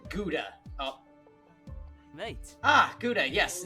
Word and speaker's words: Gouda: Everyone knows Rauda. Wait, I think I know what's going on. I forgot to pronounce it Gouda.